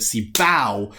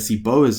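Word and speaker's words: CBOW: works otherwise you know I like to call it see bow instead of see bows as I'm sure many of the academics would say it's pronounced and skip ground and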